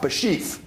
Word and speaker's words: Bashieff: to start this out your first name is spelled b a s sh i e FF bashie tell me the origin